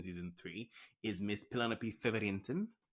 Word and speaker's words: Featherington: It does seem that the actual lead protagonist in season three is Miss Penelope Featherington. I love how to say it. Featherington. You have to roll that R. Featherington.